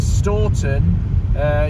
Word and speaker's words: Stourton: Here we are, we're now coming down towards Staunton, or is it known as Stourton as it's spelt, but obviously it's pronounced as Staunton. And Staunton used to be the